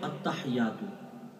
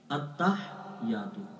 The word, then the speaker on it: التحیات: طور پہ دیکھیں التحیات، اس کو اکثر پڑھتے ہیں التحیات، التحیات غلط، اس کے ہجے یوں ہے، حمزہ تا زبر ات، تا زبر تا، اتا، جب آپ اتا کہیں تو ہا کی آواز نہیں نکلنی چاہیے، اتا، ہا یا زر